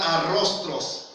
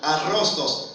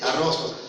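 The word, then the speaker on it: arrostos: La palabra debilitado tiene la palabra arrostros, pronuncié mal al principio, arrostros, acentuada A inicial, R-O-S-T-O-S, arrostros.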